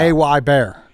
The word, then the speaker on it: Hebert: A-Y Bear. Yeah, it is. Yes, it literally pronounced like, oh, look, a bear. It is Cajun French in origin.